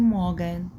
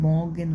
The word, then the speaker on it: Morgen: الصباح هي الأداة التعريف، الارتكل دي اللي هي الدير والداس والدي، دي معناها يعني كلمة مورجن، مورجن اللي بالأصفر، مورجن، مورجن ما نطقتش الار برضو، مورجن، مورجن دي معناها صباح.